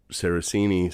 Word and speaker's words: Saracini: would say it uhhuh but I grew up sarasini so know he was talking to me at